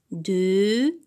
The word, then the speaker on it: deuxième: Non, donc deuxième. La syllabe qui contient la lettre X, c'est la syllabe zie. Alors, je vois la lettre X, mais j'entends le son Z.